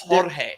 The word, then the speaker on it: Jorge: You guys roll your R's. That's Jorge.